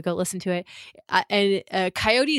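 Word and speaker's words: Kaiyote: listen to it and coyote is spelled with a k a i o sounds ridiculous as I'm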